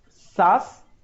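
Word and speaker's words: SaaS: in a different manner it is i ask and sas s-a-a-a you need to read like that and pass that's the best way of pronouncing it so i ask sas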